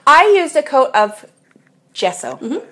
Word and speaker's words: gesso: I used a coat of gesso. Mm-hmm. Am I saying it right? You are.